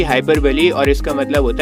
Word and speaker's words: hyperbole: हाइपरबली, इसकी pronunciation होगी हाइपरबली और इसका मतलब होता है बड़ा चढ़ा के कहना।